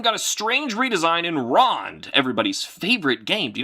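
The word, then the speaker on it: Ronde: Oh, no. This is Rond. Oh, it's just Rond. R O N D E. Could be Rondie. Getting a little Rondie in here. That's not right.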